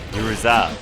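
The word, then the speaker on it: Yuzuriha: Yuzu, forgive me. Yuruha. Yuruza, that's how you say it.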